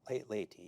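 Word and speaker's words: Leyte: On October 20th, 1944, General MacArthur lands on the island of Laty. Did I pronounce that correctly? Laty.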